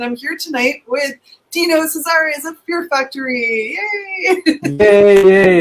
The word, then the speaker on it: Cazares: I am Liz Imperiali with Bucketlist Entertainment, and I'm here tonight with Dino Cazares of Fear Factory. Yay! Yay! It's actually Cazares with a hard C.